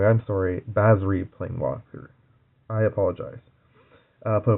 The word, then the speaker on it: Basri: If you control Basari Planeswalker. I'm saying it wrong. I'm sorry. Basri Planeswalker.